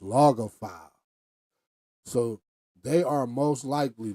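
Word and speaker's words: logophile: white just don't want to cooperate oh it's pronounced loger file so they are most likely loger files which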